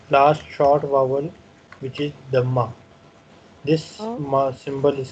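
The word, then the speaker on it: ضمة: This U is pronounced like the vowel in pull. This mark, Dhamma, is called in Arabic, Dhamma.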